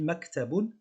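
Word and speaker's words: مكتب: petit accent 0, c'est un accent neutre qu'on prononce k. Donc on dit maktabun, le son que l'on voit ici, que l'on entend ici, c'est k.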